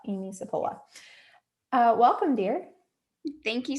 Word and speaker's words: Cipolla: going to say it wrong so guys it's cipolla Amy sapola uh welcome dear thank you so much for